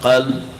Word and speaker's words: قلب: یہ قلب دھڑکتا، جس کو پنجابی میں قلب کہہ دیتے ہیں، جس کا مطلب کتا ہوتا ہے. تلفظ صحیح رکھو، قلب نہیں ہے قلب ہے.